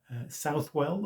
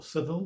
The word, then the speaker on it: Southwell: have been today to southwell or civil whichever pronunciation you prefer to the minister